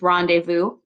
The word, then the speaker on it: rendezvous: this word is rendezvous this is a hard word to pronounce if you've never seen it before this word comes to us from friend from French so this is rendezvous patrol scarce dispersed bide